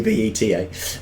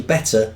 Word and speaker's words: betta: But that'd be BETA. But yeah, that's brilliant. Oh, right, I don't know how it's pronounced. Oh, right, now I'm being corrected by William McDonald. It's actually better, not beta.